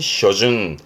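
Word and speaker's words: 初旬: 그럼 지금은 초순 상순을 의미하는 부분인데 발음이 쇼준 쇼준 발음이 준이에요.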